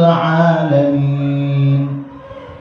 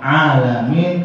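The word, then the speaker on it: العالمين: Bacaan alamin, kamu baca alamin. Misalnya dibaca alif, bukannya dibaca ain. Kan alhamdulillahi rabbil alamin. Itu tenggorokan. Alamin bukannya alamin, beda.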